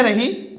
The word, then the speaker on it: ऋ: ना ऋ ऋ यह रही ऋ इसका उच्चारण लगातार नहीं किया जाता इसका उच्चारण लगातार नहीं किया जाता क्यों क्योंकि मैं बोलू री री ई अंत में ई बोली जाएगी अंत में क्या बोली